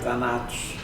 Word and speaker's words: Thanatos: É Thanatos ou Thanatos? É Thanatos. Thanatos.